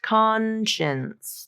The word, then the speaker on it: conscience: science that second part think of chin chins chins Consin conscience chins chin chins chins okay that's the pronunciation there um it's a challenging word to pronounce because that spelling again but con full full vowel has the stress and then chins conscience okay and then this